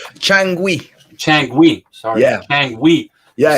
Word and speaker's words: Changüí: rosenthal we're talking about junkie um am i pronouncing that chunky changui chang sorry yeah it's another one guantanamo and